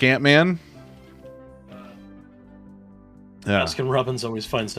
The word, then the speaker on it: Ant-Man: Ant-Man as opposed to Uncle Man. Oh, my God. Some people pronounce it Aunt-Man.